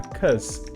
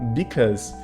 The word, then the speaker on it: because: um pouquinho mais rápido a gente pronuncia Inclusive só assim olha cuse sabe em vez de falar because então você pode ver